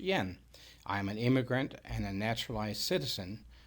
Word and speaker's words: Jan: It's spelled Jan, but it's pronounced Jan.